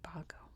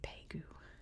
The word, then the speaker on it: Bago: not pronouncing anything right I think it's more like B P something like that but um I'm just I'm just pronouncing it the best I can here in America we would say Bago I guess in the UK you'd say pagu look at all these